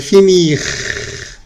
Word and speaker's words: fini: Cuando los conjugas en passé composé, quiero decir que no pronuncias la R. No pronuncio la R porque la R se pierde. Si te das cuenta, cuando la pasamos a passé composé, no es finir, sino fini.